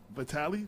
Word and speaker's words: Vitale: Vitale. Did I pronounce it right?